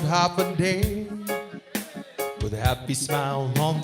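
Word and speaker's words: Hafa Adai: Just pronounce it as in Hoffa Day. Sing it with the beat and say it every day like Hoffa, Hoffa, Hoffa, Hoffa Day.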